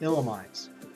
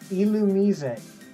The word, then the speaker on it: Illumise: illumines did I tell I've always said it illumines and then after getting into the Pokemon YouTube Community you guys tell me it's illumise that sounds ridiculous to